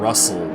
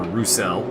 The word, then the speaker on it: Roussel: And then we got Mitchell and Russell, or Roussel, pardon me.